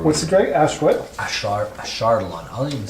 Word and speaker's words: Ashardalon: Ashardalon.